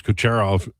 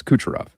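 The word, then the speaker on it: Kucherov: Does Low Tide pronounce Cooerov just to troll? No, that's his name. It's Cucharov.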